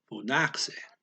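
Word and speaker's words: φώναξε: It's phonaxe. Has an X in there. The K sound ends the one syllable, and the S starts the next syllable.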